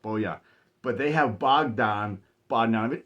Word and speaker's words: Bojan: We have Bojan Bogdanovic, but it's like Bojan, like a J, but it's pronounced Bojan.